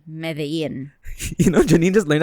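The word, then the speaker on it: Medellín: So, the happy news of the week is in Colombia, in the city of Medellin. Wait, in Colombia, they pronounce it as Medellin. And in Spain, or the Spanish, they say Medellin.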